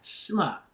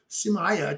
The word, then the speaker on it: Sema: And they had Sema, S-E-M-A, Sema, that means to join, or we spelled it S-M-A-I. Chawi, T-A-W-I. And I heard the white guy call it Semaya, Tuaya.